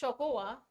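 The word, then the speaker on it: xocolatl: It was even enjoyed by the Aztec emperor Montezuma, and the Aztec word for it, Zocolatl, pronounced Xocoatl, evolved into the English word chocolate.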